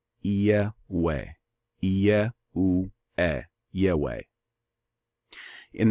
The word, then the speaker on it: Yahweh: the name of Allium I I pronounce it yeah way yeah ooh yay way